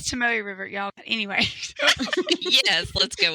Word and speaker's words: Tomoe River: quite a bit, but Tomato River paper. I'm probably completely botching the pronunciation of that because of my southern drawl. I've heard it as Tomoe River, but that's all right. I don't know what that's right. Yeah, it is Tomoe River, y'all.